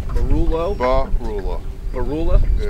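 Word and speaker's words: Beroular: Barula. Barulo? Barula. Barula? Yeah. Spell it.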